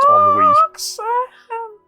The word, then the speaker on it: ennui: You know, Roxy seems like the kind of person who wouldn't know that it's actually pronounced ennui.